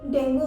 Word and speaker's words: dengue: पर अगर आप डिक्शनरी खोल कर देखें तो इसका प्रोनाउंसिएशन डेंगू नहीं है, इसका सही प्रोनाउंसिएशन है डेंगी।